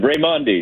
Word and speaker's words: Raimondi: Say your name again. I keep saying it wrong. You're fine. Raymond. Mandi.